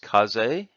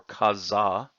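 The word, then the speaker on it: 風: kanji can be pronounced kaze as in kamikaze or kazza as in the oku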